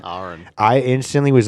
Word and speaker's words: Ahren: Yeah, my name's pronounced Ahren, so it's Ahren. So you break the AH and then the REN. Ahren.